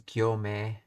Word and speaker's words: 行目: Sounds like they're saying yome. Yome. Let's see, line. Gyoretsu no sen. Explain the grammar of what is that word? First line. Oh, is that hmm. So it's pronounced as gyome. So uh so so Juni gyome.